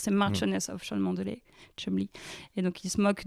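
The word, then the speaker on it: Cholmondeley: qui s'appelle rose et elle est marquise de chumly et ça s'écrit Chol Mel et ça fait les chou gras de tous les le show américains depuis 3 semaines parce que ça s'écrit Chol m la et ça se dit chumly et ils disent mais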